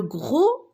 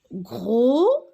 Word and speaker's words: gros: Alors, le titre de ce texte, le gros navet. Alors, regardez, la lettre S et la lettre T, je ne la prononce pas. Ce sont des lettres muettes, d'accord?